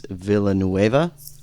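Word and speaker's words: Villeneuve: it might be, and I'm probably going to mispronounce this, Dennis Villanuva.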